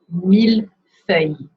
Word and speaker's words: millefeuille: This one is not a favorite one to pronounce, and it's pronounced millefeuille. Millefeuille. So ILL, we learn, is a Y sound, like the Y letter sound in yes, except for a few words, including mille.